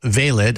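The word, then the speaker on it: Veilid: working on it's an encryption technology um called valid I think I'm pronouncing that right um this is the code that the CDC is working on who exactly is valid for what exactly is it intended to do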